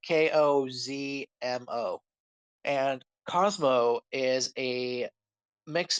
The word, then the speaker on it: Kozmo: And uh, so in Yu-Gi-Oh, there's an archetype called Cosmo, spelled with a K first, and it's like Kozmo.